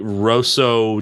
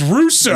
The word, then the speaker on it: Russo: Emperor Mai and the great Roso Japanese war you got that one wrong it's Russo Russo pirate oh nope I